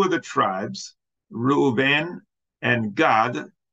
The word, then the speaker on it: Gad: the tribes Reuben and God that's not God up in heaven it's like you could pronounce a Gad if you want but anyway two of